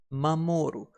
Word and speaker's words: 守る: We pronounce to protect or to guard as mamoru, and it's fairly easy to remember because we can set it as the mother protects its child.